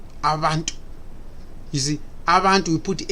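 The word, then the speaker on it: abantu: In the Zulu language, the word B is pronounced as Va, Vantu, Avantu.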